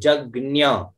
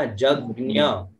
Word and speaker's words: यज्ञ: देखिए यज्ञ है ना, यज्ञ यह शुद्ध उच्चारण है यज्ञ। तो जो अल्पज्ञ है नहीं जानते वो बोलते हैं, लेकिन अपन लोग जानने के लिए बैठे हैं तो यज्ञ शुद्ध उच्चारण करिए।